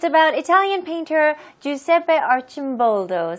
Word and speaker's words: Giuseppe Arcimboldo: So it's about Italian painter Giuseppe Arcimboldo. So here's the pronunciation. Giuseppe, Ju, G는 J 발음으로 하시고요. Seppe, 마지막 E는 E로 발음하시고요. 그다음에 Arch, 이 C는 CH로 발음하시면 돼요. Arcimboldo, Giuseppe Arcimboldo, Italian 발음이에요.